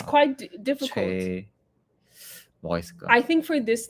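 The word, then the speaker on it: 최: Is it Che? It's Che. Che. Yes, it's Che. It's not Choi.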